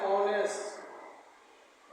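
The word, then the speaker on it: honest: लेकिन इसका उच्चारण हो जाएगा एक्सीलेंट है। ऑनेस्ट ऑनेस्ट एक्सीलेंट है।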